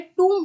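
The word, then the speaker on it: tomb: वो क्या होता है, टूम होता है। तो टूम जो है इसमें बी जो है वो साइलेंट होता है, ठीक है।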